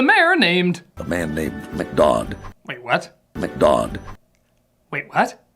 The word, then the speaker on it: McDodd: A man named McDodd. Wait, what? McDodd. Wait, what? McDodd. McGod? McDodd. McGod? McDodd. Whatever, you just call him that to rhyme with odd.